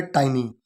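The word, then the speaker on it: tiny: छोटा, सूक्ष्म, ठीक है, और इसे टिनी नहीं पढ़ेंगे, इसे टाइनी ही पढ़ेंगे, ठीक है। इसका जो प्रोनाउंसिएशन है, जो उच्चारण है, वो है टाइनी।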